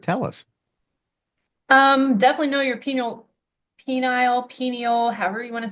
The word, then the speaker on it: pineal: Pineal gland, maybe? Pineal. Pineal. Some Gotcha. say pineal, it's a variation of how to say it.